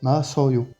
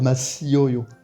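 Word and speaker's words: 마셔요: Et donc là, on va avoir Masoyo. On peut pas dire Masioyo. On va faire Masoyo.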